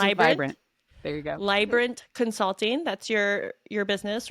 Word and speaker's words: Leibbrandt: You now have your own business, Leibbrandt. Vibrant. Rhymes with Leibbrandt? vibrant. There you go. Leibbrandt Consulting.